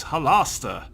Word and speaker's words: Halaster: to say his name its Hollister since it has to rhyme with master yeah that's cannot Hollis yeah whatever so is there some kind of reward to fulfilling you both french perversions of Hollister turn to look at